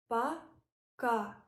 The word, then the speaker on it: Пока: It means bye and pronounced like paka.